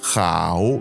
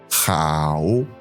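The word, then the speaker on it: 好: et ça se prononce chao. Chao. Ce mot est au 3è ton et il faut donc que tu prennes le temps de descendre puis de remonter lorsque tu parles.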